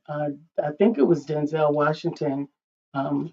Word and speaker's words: Denzel: I remember uh I think it was Denzel Washington um whose accurate pronunciation is Denzel, but Denzel Washington as we know him uh mentioned the fact